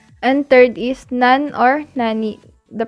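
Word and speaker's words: なん: no in english and third is none or nani the pronunciation of nanandani nan followed by this or counters is pronounced as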